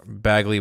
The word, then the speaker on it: Bagley: is it am i saying it right yeah bagley will be doing the artwork now i don't